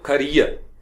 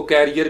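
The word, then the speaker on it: career: फिर आपके पास होगा ई ए, वो लफ्ज यूज करते हैं खरियर, खरियर, जिसको कैरियर भी कहते हैं लाट से। कैरियर होता है साइकिल का, ये खरियर होता है, ई खरियर, खरियर, ठीक है, खरियर।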